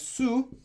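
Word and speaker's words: 수: very very common character this is pronounced as soo and this means water or woods so soo good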